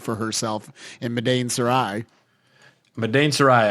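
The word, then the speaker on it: Madain Sari: Madain Sarai. I much prefer your pronunciation of that. I was calling it Maiden Sorry, but Madain Sarai is a little more fantastical.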